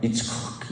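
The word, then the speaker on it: יִצְחָק: 그래서 이걸 그러니까 우리식으로 이제 그대로 원어 그대로 발음하면 이츠크 이렇게 발음이 돼요. 이츠크. 우리 이 하자도 우리 발성으로는 잘 소리가 내기 힘든 말씀인데 이츠크 이런 말이라고 해요.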